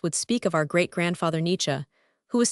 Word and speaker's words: Nietzsche: The family tradition was that a certain Polish nobleman Nietzsche, pronounced Nietzsche, had obtained the special